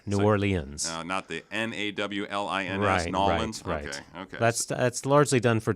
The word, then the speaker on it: New Orleans: that's correct that's right there are many ways to say it a lot of people say I say New Orleans copying some of my colleagues who are from there New Orleans that's that's largely done